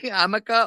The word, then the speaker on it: Jamaica: Hamaka. Hello. Is it really said like that? Like because I was like full on feeling stupid because I thought she was just not pronouncing Jamaica correctly. Hamaka, okay.